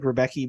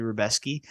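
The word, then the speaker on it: Rębecki: Mateusz Rebeski, I believe is how it's pronounced. It looks like Rebecki, but it's actually Rebeski.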